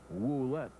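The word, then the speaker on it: Ouellette: homers and 41 RBIs he spells his name o u l tte but pronounces it wet as if there is a dou at the beginning the pitch swung on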